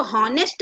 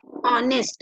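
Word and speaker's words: honest: हम इसको हॉनेस्ट नहीं पढ़ते, इसको हम क्या पढ़ते हैं, ऑनेस्ट, है ना।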